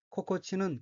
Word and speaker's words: 心地: 코코치 또 오모에루라고 읽으며 코코치는 기분, 마음이란 뜻이고 이 또 오모에루는 좋다고 생각되다 라는 의미입니다. 참고로 코코치가 복합어의 뒷부분에 오는 경우에는 코가 타금이 되어 고로 발음합니다.